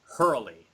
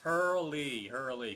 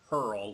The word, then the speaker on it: Herle: Yes, Herle, because before I was pronouncing it Hurl, like hurl a stone or something like that. Or Because a a lot of synonym times for with names like that, the E is like silent.